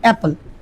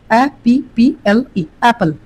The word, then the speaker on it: apple: শব্দটি আমরা যে বলছি APPLE অ্যাপল, অ্যাপল, এল পর্যন্ত উচ্চারণ করছি, এটা কিন্তু কি আছে, সাইলেন্ট আছে, একটু ভালো করে খেয়াল করতে হবে।